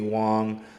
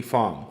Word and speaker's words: Fong: it out from uh Tiffany Wong um Tiffany Fong Fong I keep saying the woman's name wrong don't forgive me that